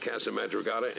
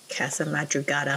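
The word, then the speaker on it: Casa Madrugada: we'll get off at CA madata and ride from there Casa mugada I've been saying it wrong the whole time sorry guys so should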